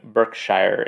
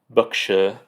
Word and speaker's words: Berkshire: So Hugh Lofting is born in 1886 in a place that I would consider pronouncing Berkshire, England, but I looked up the pronunciation and it's Berkshire.